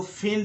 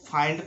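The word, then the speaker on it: find: Next rule में है आई के बाद एनडी लगा हो। आई के बाद जब भी एनडी लगा हो तो आई का उच्चारण आई हो जाता है। जैसे इसको मिंड कभी मत पढ़ना, इसको पढ़ना है माइंड। इसको फिंड नहीं पढ़ना है, इसको फाइंड पढ़ना है।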